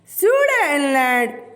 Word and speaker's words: Sudetenland: टी इसमें silent है, टी की आवाज़ नहीं निकालनी है।